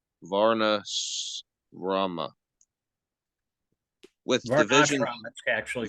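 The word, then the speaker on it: varṇāśrama: created a system called Varna Rama with division that's actually called the S is pronounced sh uh so let's try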